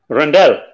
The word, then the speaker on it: Rondelle: name how's it going yes you're saying it correctly rondelle yes I'm here yeah